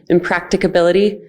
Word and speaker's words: impracticability: And I'll just add the question of impracticability, that extra syllable, impracticability, is also eligible for dialogue with us, with the league, with your partners, before you go ahead and make that statement.